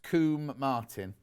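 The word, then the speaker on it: Combe Martin: south devon go to linton and lindmouth it's pronounced coomb martin 13.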